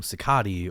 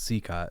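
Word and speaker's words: Cicotte: Well, and it's been mispronounced so many times over the years in movies and pop culture references where they call him Sicati or all sorts of different variations that we've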